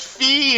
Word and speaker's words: Fi: Fi's name because they were like, "No, it's pronounced Fee and it's not Giraheim, it's Gira."